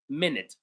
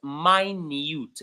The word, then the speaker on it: minute: The first way it is pronounced is minute, which is the minute that we all know, which is a unit of measuring time, which is 60 seconds.